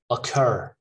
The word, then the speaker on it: occur: not cupboard okay cupboard occur a cur occur all right occur so the stress is on the second syllable occur police not paul